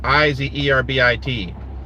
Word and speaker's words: Iserbyt: Charlotte Iserbyt, or Iserby. It's pronounced Izerbit.